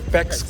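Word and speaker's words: Paik's: by the way guys this is how you pronounce it it's peex coffee so next time you go here at least you know how to pronounce it yes so PEX coffe located friendship Highway side gate CLK and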